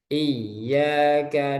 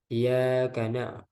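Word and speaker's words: إِيَّاكَ: Iyyaka na'budu wa iyyaka nasta'in. Ya, jadi Anda pernah dengar bacanya itu iya karena nah itu nggak boleh. Pernah ya seorang imam membacanya iya karena budu wa iya karena nasta'in itu salah ya dan jali.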